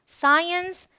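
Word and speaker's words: science: alright rule number four अगर सी के पहले एस हो तो सी साइलेंट होता यह बहुत काम की चीज है ये आप ध्यान में रखिए सी के पहले एस आए मतलब एस सी करके अगर आ रहा है इस तरीके से तो सी साइलेंट है आपको स प्रोनाउंस करना है इट्स सेंट साइंस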